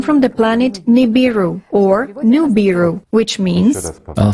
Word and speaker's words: Nibiru: Everywhere is written as Nibiru, and many pronounce Nibiru. There was no such expression or such a phrase as Nibi. It was Nubi, from that side.